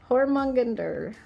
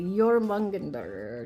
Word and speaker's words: Jormungandr: love this thing, the Hormungander. They say their J's weird. Like with a Y, so it's like the Jormungandr or something like Jormungandr, something weird.